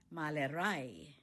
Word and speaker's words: Malerei: painting Die Malerei One more time, the stress is on the last syllable. Malerei Painting is a visual form of art.